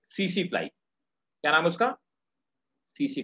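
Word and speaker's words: tsetse: एक फ्लाई होती है सीसी फ्लाई, क्या नाम उसका? सीसी फ्लाई। सीसी फ्लाई इंसानों को काटती है, इसको टीसी टीसी लिखते हैं, सीसी पढ़ते हैं, टी साइलेंट है, सीसी फ्लाई।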